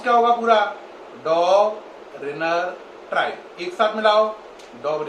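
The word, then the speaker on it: Döbereiner: है इसको पढ़ना है लेकिन ई को साइलेंट करके जरा पढ़ो क्या पढ़ोगे डॉग ओके अब इसमें इ को छोड़ दो आर आई एन इ आर क्या पढ़ोगे रनर डॉग रनर और इसको क्या पढ़ोगे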